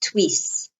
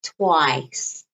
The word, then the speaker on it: twice: uh two times twice notice pronunciation it's not twists twist there or twice is twice so it's you kind of have to open your mouth like twice like nice okay twice twice so